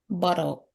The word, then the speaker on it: bottle: They normally the T's are silent. Okay? And in most of their spellings when you see two T's, they become a D.